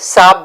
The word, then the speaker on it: साहब: एंड अब खाने के बाद साहब, साहब का जैसे मैंने पहले बताया कि जब आप बात करते हैं तो आप ये वर्ड ह प्रोनाउंस नहीं करते, खाली सिर्फ साहब बोलते हैं।